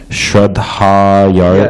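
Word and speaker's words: श्रद्धयार्चितुम्: Shraddhayarchitam. Every syllable, it's Shraddhayarchitam.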